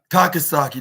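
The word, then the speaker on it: 高崎: t Tak Tak saki takasaki takasaki that's what that's how it's pronounced but you utaka Yoshi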